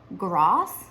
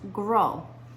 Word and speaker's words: Gros: last name is pronounced gross but in French it is pronounced grow and so the O is a long sound and there is no s the and no one